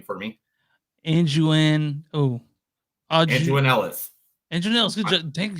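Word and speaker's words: Aunjanue Ellis: Anjuan Ellis.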